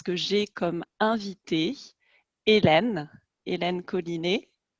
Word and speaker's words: Colinet: Alors aujourd'hui, je suis très très heureuse parce que j'ai comme invitée Hélène Collinet. Je le prononce à la française. Est-ce qu'on dit Collinet en catalan, Hélène? En catalan, on dit collinette.